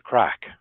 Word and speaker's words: craic: so it sounds it's it's pronunciation is identical to this English word crack oh and people would